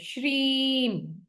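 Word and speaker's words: Shreem: ऐसे जाता है य श्रीम ठीक है स्पेलिंग है इसके एस एच आर ई एम पर इसका साउंड ऐसा जाता है श्रीम माहालक्ष्मी का मंत्र आप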